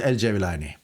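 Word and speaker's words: el-Cevlani: o da yanlış değildi Ama doğrusu el cevlani bir de şöyle bir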